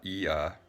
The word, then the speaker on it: Ea: So the first one is Sumerian, and we're going to talk about the god Ea. Eve is the first syllable, and after the period is the second syllable.